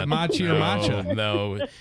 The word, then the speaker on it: matcha: I say I say you're pronouncing it wrong it's actually matcha and you're like no it's totally Machi it's totally Machi that's